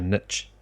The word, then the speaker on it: niche: Yeah, no, but Americans say niche. I think. Niche. At least the girl that we listen to on YouTube. That one girl. She says niche.